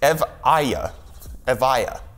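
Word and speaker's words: Evija: which is Evita but that's apparently in how you pronounce it it's EV ayah via which is not how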